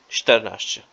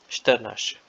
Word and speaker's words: czternaście: This is an exception. Czternaście. Czternaście.